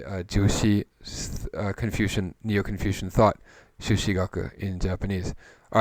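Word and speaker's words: 朱子: in the context of japanese history as well shushi shushi jushi is pronounced sushi in japanese and the dominant sort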